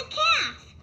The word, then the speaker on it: calf: The first animal rhymes with half, and it's a baby cow. What animal is it? The right answer is a calf.